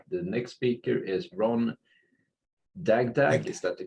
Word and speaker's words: Dagdag: But you are watching GroupBy, and the next speaker is Ron Dagdag. Is that the correct pronunciation?